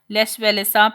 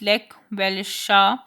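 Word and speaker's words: Lech Wałęsa: As the strike continued, a former electrician of the shipyard, Les Velesa, pronounced Lek Velesha, joined the strikers.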